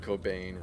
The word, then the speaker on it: Cobain: thank the universe that Kurt Cobain rhymes with brain you know God we